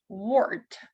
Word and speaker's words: wart: Because sometimes it can be read as OR, да? У нас бывает иногда путаница. Почему? Потому что AR также может читаться не как R, а как OR. Wart, warm, бородавка, wart, warm, теплый.